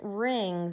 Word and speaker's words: wring: it wringing it out that has a silent W your mom doesn't look ring out your washcloth she rings it out so the W is definitely silent w ring what about